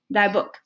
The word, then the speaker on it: dagboek: Miep Geese, dagboek. Stamberg, dagboek.